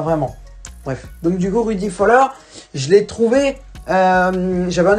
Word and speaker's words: Rudi Völler: Moi je dis Rudi Völler. Parce que le V se prononce F et ER je le prononce un peu R.